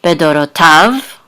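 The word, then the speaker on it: בְּדֹרֹתָיו: And this is an etnachta, so the accent is on the last syllable, bedorotav.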